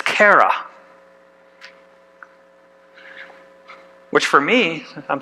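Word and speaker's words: χαρά: you can read that right no okay it's Kara which for me I'm saying this word can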